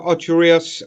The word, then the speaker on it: Ocho Rios: Ocho Rios and Negril. Ocho Rios. Say it properly. Ocho Rios. Ocho Rios. I beg your pardon. No, Ocho. It's not Rios. It's Ocho Rios.